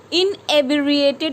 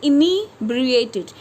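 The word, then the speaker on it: inebriated: तो पढ़ते हैं इसको है फनाटिक, डॉगमैटिक, नेक्स्ट आपका इनिब्रिएटेड, इनिब्रिएटेड, इनएब्रिएटेड नहीं पढ़ेंगे, इनिब्रिएटेड।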